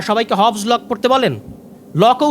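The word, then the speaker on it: Locke: তো আপনি এই সামান্য জিনিসটা পড়লেন না, সবাইকে হবস লক পড়তে বলেন, লকও উচ্চারণ করতে পারেন না উনি, লক্স বলেন। লক্স বলতে কেউ নাই পৃথিবীতে। লক আছেন, জন লক, একজন বিখ্যাত দার্শনিক।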